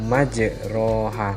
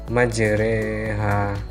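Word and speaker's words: مَجْرٜىٰهَا: di surat hud miliar tulisannya majroha tapi membacanya majreha kemudian surat hud ayat punya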